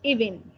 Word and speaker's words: evening: Acuérdate que evening tiene 2 sílabas nomás. Good evening.